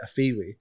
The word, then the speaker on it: Afewee: you know a lot of people because they're pronouncing it where we say it a fiwi yeah people don't get it straight away I